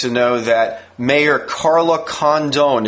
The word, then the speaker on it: Condon: know that mayor Carla condone is that how you pronounce her name Kim uh yeah I think it's Condon Carla Condon the mayor